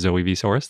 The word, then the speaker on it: Zoe Vsaurus: This week, we'd like to thank Zoe Vsaurus, and I've been mispronouncing that one, leaving out the V in the middle. So the correct pronunciation is Zoe Vsaurus.